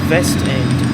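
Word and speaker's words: Westend: that's the other thing i'm pretty sure in the german language they pronounced w's as v's it's like one of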